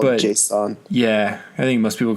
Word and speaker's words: JSON: I think I used to pronounce it Jason, like the name Jason. Oh, really? I've only ever heard it called JSON.